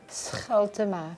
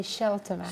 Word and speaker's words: Scheltema: Well, You pronounce it, how do you really pronounce it? Scheltema. Okay. Scheltema. But you can say Scheltema.